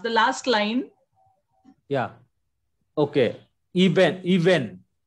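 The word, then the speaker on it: אבן: Iben.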